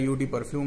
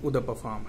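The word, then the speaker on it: Eau de Parfum: जो लिखा हुआ है इसको उद परफ्यूम बोलते हैं, पढ़ने में लगता है यूटी परफ्यूम है लेकिन इसका प्रोनाउंसिएशन उद परफ्यूम है।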